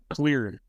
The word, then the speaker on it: Xlear: Clear clear. That was something my dad wanted. It clears your nose. That was what our our first product was actually the nasal spray. It clears your nose.